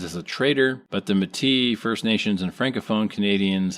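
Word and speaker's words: Métis: In 1885, he helped found and lead the provisional government of Saskatchewan on land traditionally inhabited by Mat Matis.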